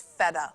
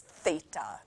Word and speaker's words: theta: and go to university thinking it was feta like the cheese it's not it's Theta not feta please don't tell your